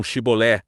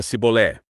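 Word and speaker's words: שיבולת: foi ele quem disse pronunciavam chibolé chibolé da boca dos efraimita só saía cebolé e aconteceu que foi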